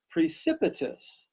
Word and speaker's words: precipitous: that could be scary the adjective is precipitous precipitous this is 4 syllables can you give me